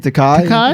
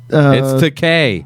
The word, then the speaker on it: Takei: Takai. Takei. Takai. He took a picture with It's Takei.